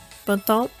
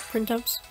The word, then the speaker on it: Printemps: Oh, and by the way, the team name is pronounced Bantam, and not Printemps.